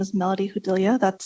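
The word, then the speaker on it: Judilla: For the record, my name is Melody Hudilia. That's spelled M E L O D Y last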